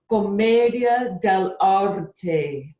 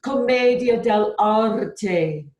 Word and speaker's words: commedia dell'arte: with you one of my favorite art forms comedia del orte i'll say it then you say it comedia del arte now say it like you're really scared comedian